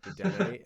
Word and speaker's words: Dedenne: That is the correct pronunciation of the Pokemon's name. However, that is morally wrong. There's no accent above the E, the last E, to let us know that you're supposed to pronounce it.